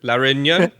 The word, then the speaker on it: Réunion: La Réunion?